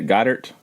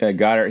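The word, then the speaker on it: Goedert: say his last name go go dirt how you say it got hurt got her yep got her he so he goes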